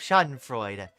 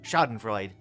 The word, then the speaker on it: Schadenfreude: FYI, the E is pronounced at the end of Schadenfreude. I hadn't encountered that before. I've always heard people talk about it as just Schadenfreude.